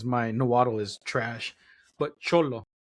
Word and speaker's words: Xolo: I butchered the name, and I know which name I butchered, and I butchered all of them because my Nahuatl is trash. But Cholo, it's XOLO, which is the type of dog, a Cholo Squinkle.